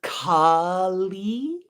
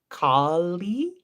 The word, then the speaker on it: Kālī: There's Kali, long A, long I, Kali.